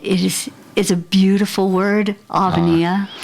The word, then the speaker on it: Avenia: is a beautiful word Alania it's a great name and it has an accent on the eye so it is I'm